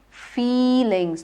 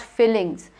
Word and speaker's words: feelings: Feelings, not fillings.